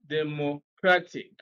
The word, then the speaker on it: democratic: count one two and then we place stress on the second syllable and what we have is democratic this is one this